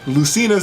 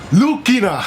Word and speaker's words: Lucina: and off one because in Japan Lucina lucina's name for some reason is pronounced lukina that I've made references to